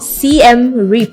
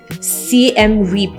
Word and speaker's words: Siem Reap: Siem Reap. Yeah. I don't know if I'm pronouncing it like correctly, but that's how they pronounce it.